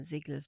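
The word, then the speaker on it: Ziegler: As soon as I see IE, I'm like, "Oh, it must be pronounced E."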